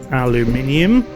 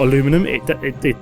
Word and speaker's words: aluminium: So then we also need aluminium, not aluminum.